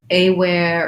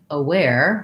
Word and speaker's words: aware: on that vowel is people will often say a where or aware they'll try to make something more like an a with that and what i recommend to help you change that pattern and correct it is say it without the first letter first just say where just like you would say one of these wares and then you can say aware like you're talking about